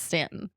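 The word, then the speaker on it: Staunton: It's spelled like it's going to be pronounced on, but they very much tell you it's Stanton.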